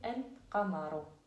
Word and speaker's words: القمر: Devant certaines lettres, le L, elle s'écrit comment on la prononce. Par exemple, on fait Al-Qamaru. Al-Qamaru. Là, on a prononcé le lem.